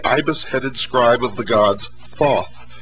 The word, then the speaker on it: Thoth: Egyptians as the ibis-headed scribe of the gods Thoth, pronounced Tehuti.